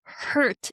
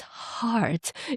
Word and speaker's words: heart: But when I sang songs in English, few people came to me like after each performance, "Hey, Aiko, it's not ear, it's year. It's not hurt, it's heart."